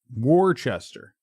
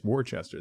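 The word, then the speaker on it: Worcester: So, I need to It's Warchester. Yeah, it's it's Warchester. That's how you say it.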